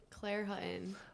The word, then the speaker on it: Claire Hutton: the te's or something how do you say it Claire Hutton very simple like button with an H all right so I